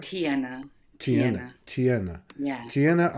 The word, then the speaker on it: Tijana: It's Serbian. My given name is Serbian.